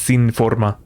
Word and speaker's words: sinforma: Forma it sounds cool in English but it's pronounced sin Forma sinen means without and Forma means form so